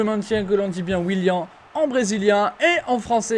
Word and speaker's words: Willian: Et je maintiens que l'on dit bien Willian en brésilien et en français également. On dit Willian quand on sait bien prononcer.